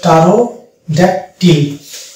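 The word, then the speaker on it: pterodactyl: তাহলে পি এখানে সাইলেন্ট হয়ে গেলে এটা হয়ে যাবে টারোড্যাকটিল, এটা হচ্ছে টারোড্যাকটিল।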